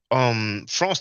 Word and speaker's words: franc: Now, well, we say franc, we don't pronounce the C in French, but in English people do.